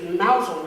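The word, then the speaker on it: Mousehole: My partner's name is Nancy, and our cat's name is Mousel, which is spelled like mouse hole. She's named after a little smuggler's village in Cornwall.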